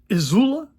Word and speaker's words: IZULA: not, you would see me carrying my ESEE IZULA, notice I pronounced that correctly, in S35VN with my super special modded Rowan-made HEST knife scales.